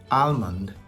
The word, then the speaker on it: almond: any flexibility whereas with almond there is flexibility you can either omit the L you can leave it out without saying it or you can pronounce the L so almond almond or